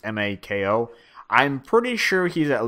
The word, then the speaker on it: Mako: characters, I think their names are Bolin and Makio, or Mako. I think his name is Makio, or I'll just say Makio Mako. I forget his name, or I forget how to pronounce it. It's Mako.